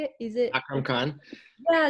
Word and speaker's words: Akram Khan: Is it Akram Khan.